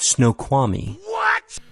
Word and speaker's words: Snoqualmie: Snow qual me? Snow qual my pass? Something like that. Snoqualmie.